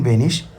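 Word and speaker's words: wenig: German അറിയാം ഇഷ് ഐൻ വെനിഷ് ടോയ്റ്റ് ഇതിൽ നിങ്ങൾ ഉച്ചാരണത്തിൽ ശ്രദ്ധിക്കേണ്ടത് ഡബ്ല്യു ഇ എൻ ഐ ജി വെനിക്ക് എന്നുള്ളത് വെനിഷ് എന്ന് തന്നെ ഉച്ചരിക്കണം ഐനൻ മോമെന്റ് ബിറ്റ് ഐനൻ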